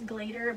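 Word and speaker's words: Glaedr: it through glad year i know the actual pronunciation is glader but i like to say gladiator you can see how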